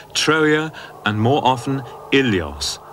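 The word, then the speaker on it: Ilios: troa and more often ilos originally pronounced willos now in this general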